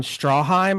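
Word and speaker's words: Stroheim: William Holden who plays Joe Gillis, Eric von Strawheim, I think is how you say it. Straw, right?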